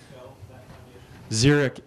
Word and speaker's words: Xeric: I published this book zerich is spelled x r i c and the founder